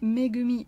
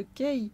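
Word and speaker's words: Kei: trouve que le fait de le surnommer megumi au lieu de kay qui est la bonne prononciation pour son prénom ajoute encore une dualité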